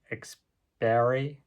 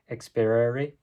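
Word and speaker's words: experiri: video so far was exper I can't pronounce that quite right this is Latin exper um e x p e r i r i which is a combination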